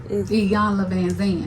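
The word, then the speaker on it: Iyanla Vanzant: It's Iyanla Van Zandt.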